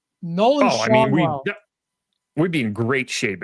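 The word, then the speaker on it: Schanuel: Is that how you say that? I believe it is, yeah. Not I always Shanul. said it as Shanul. I'm pretty sure it's Schaunwell, but whatever.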